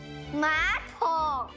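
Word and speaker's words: 马桶: 马桶。那为什么你的 A 是第 3 声？你知道原因吗？因为 2 个 3 声在一起，那个第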